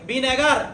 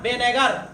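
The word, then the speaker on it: بنگر: আগে একেক রকম বলতো কেউ বলতো বেঙ্গর কথা বুঝছেন কেউ বলতো বনগর এটা বনগরও না বেঙ্গরও না এক্সাক্ট উচ্চারণ কোনটা কেউ জানতো না এটা হচ্ছে বেনেগার বলেন তো কোন মাছ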